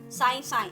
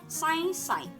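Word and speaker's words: सायँ सायँ: हुआ कि साय साय, ये आप देखिए मैंने उच्चारण कैसे किया, साय साय ऐसे नहीं किया, नाक में से किया, साय साय। तो सा के ऊपर क्या है, चंद्र बिंदु।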